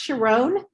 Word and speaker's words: Sharón: my name it's pronounced sharon um like the song my mama my sharona without the a i'm sorry uh sharon